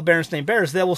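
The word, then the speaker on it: Berenstain: n and it's not it's spelled Baron stain Baron not Baron Stein Baron stain s a i n and not and not EI i n so people have gotten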